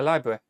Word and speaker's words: library: But there's no getting away from the idea that the word library was somehow two syllables.